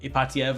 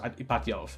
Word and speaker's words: Ipatiev: In some cases pronounced Ipatiev, and in some cases pronounced Ipatiov. The first one I think is correct, that I heard, that I know.